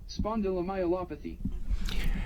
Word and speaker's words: spondylomyelopathy: microphone over to a speaker here we go spondylomyelopathy and that's how you say that word and